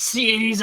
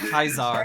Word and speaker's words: Caesar: Cesar uh sorry sorry it's pronounced Cesar or kaisar if you play Fallout New Vegas uh there was a